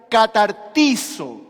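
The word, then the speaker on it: καταρτίζω: para la palabra perfeccione es una palabra que se pronuncia catartizo no sé si alguna vez usted escuchó esta palabra catartizo es una palabra griega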